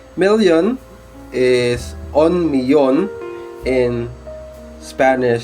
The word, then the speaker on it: millón: So 1 million is un millón in Spanish. So remember, doble L or double L must be pronounced as Y. That's why we say it un millón, not un million.